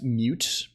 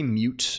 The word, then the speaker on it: mut: how do you pronounce mute hello adorable I would say mute because it stands for mutable right you could say mut also but mute mute I think is the way right like anytime you